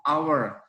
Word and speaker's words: hour: Jadi kalau pengucapan itu hour, hanya hilang hour.